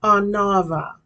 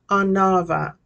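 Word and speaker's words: עֲנָוָה: all right humility in the Hebrew it is pronounced anava anava and it comes from a and u meaning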